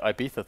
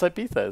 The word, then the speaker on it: Ibiza: That's like the Ibiza thing.